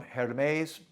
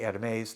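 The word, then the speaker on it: Hermès: of the newest from hermes hermes hermes depending on how you want to pronounce the h i say atomes the french pronunciation anyways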